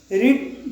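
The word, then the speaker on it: read: अब उसके बाद में मेन वर्ब की थर्ड फॉर्म, तो ये रीड्स है, रीड जो है वो फर्स्ट फॉर्म है, तो इसकी सेकंड फॉर्म हो जाएगी रेड, और थर्ड फॉर्म भी हो जाएगी रेड।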